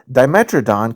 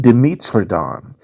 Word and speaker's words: Dimetrodon: For example, you can say megalodon or megalodon, or Dimetrodon can be pronounced Dimetrodon.